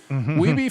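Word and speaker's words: Wiebe: Day one begins with Sanders passing on Weeby's scores to Billy this time. He's scoring good scores, but not getting close to 1 million. Sanders clarifies the pronunciation of Weeby, not Weeb, for his last name, and everyone is impressed by his persistence.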